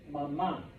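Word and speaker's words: mamá: Okay, so yeah, pronounce that last A. For mom, class F, please repeat, mama. Mama. Okay? Otherwise, you're just saying mama.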